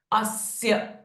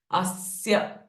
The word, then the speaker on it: अस्य: will has its effect so अस्य स्य being the conjunction in Marathi we call it एज जोड़ा अक्षर सो we need to stress them अस्य again श्र इज अ